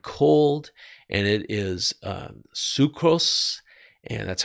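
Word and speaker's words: ψυχρός: for that word cold and it is uh sucrose and that's how you pronounce it and it means chili sluggish inert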